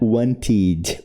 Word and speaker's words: wanted: E pode ter som de i. O e pode ser pronunciado, mas o som de i, né? Wanted. Wanted.